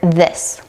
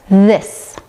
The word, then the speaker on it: this: This Many times I'll hear non-native speakers replace the voice th sound with a duh sound. D. Once again, as you can see, the D sound does not require the tongue to come through the teeth, and the th sound does.